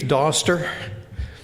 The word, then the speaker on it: Doster: Um My name is Doster. It rhymes with foster, not poster or toaster.